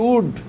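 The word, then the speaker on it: would: যে উইল তারপরে ডব্লিউ ও ইউ এল ডি উড এই যে সেল এই যে এস এইচ ও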